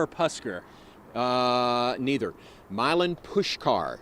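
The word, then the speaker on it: Puskar: neither Milan push car push car push car I don't know how you get that out of the spelling there but it's Milan push car Stadium blame Eastern Europe there you go I've been saying it wrong my entire life 6 p.m central time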